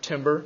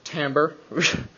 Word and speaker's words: timbre: I know it's spelled like timber. It is not timber. It is timbre.